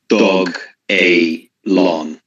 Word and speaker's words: Dogelon: So on the first website, it was announced as Dogelon. Okay. So that's how they want us to pronounce it. Because Doge or Dogelon or Dogelon, that doesn't really work in the dev minds.